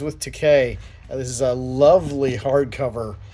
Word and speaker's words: Takei: George Takei, It Rhymes with Takei.